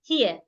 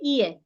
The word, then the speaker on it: here: pronounce this word example I wouldn't say ear I will not pronounce this word as ear I will pronounce it as here here and I you